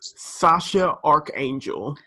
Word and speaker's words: X Æ A-12: a - 12 yeah the child's name is pronounced sacha arc angel no really cute if it was spelled that